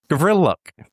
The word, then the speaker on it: Gavriluk: Gavril, so like Vril, Gavriluk.